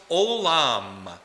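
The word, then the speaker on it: עוֹלָם: The word forever in Hebrew is pronounced olam, like O-L-A-M.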